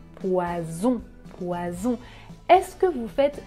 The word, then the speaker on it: poison: deux fonds poissons oiseaux ici je n'utilise pas la voix mais quand je prononce le sont j'utilise la voie était ça la différence poisson poison